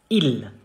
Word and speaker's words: il: You say il. Il. Il. There is no final E, and even if there was, it would be silent. So, il.